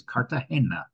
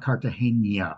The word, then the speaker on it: Cartagena: need to point out it is Cartagena. It is not Cartagena, which a lot of people, including myself, always thought. There is no tilde in the name, and it is named